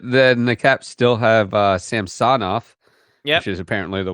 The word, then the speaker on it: Samsonov: It's not Samsonov. It's Samsonov. No, they kept referring to him as Ilya Samsonov. Okay. The emphasis is on some another syllable, apparently.